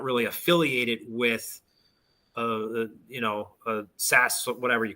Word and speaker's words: SaaS: SAAS?